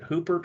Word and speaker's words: Hoopert: did I mispronounce this is it hoopert or Hubbard uh Hooper you had it right oh good I took